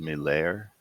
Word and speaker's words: Malaire: lair, like Milord, Milair, Milair. I believe it's like that.